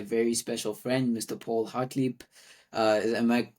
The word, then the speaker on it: Hartlieb: Paul Hartlieb. Am I pronouncing it correctly now? Did I finally get it? You absolutely are, yeah. No, Paul Hartlieb, L- that's the correct let way to pronounce it.